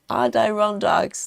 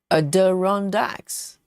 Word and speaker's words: Adirondacks: So that was, I think that's what I said in the very beginning, because it sounds closer to the way it's spelled, because it's A-D-I-R, isn't it? So it sounds more like Adir.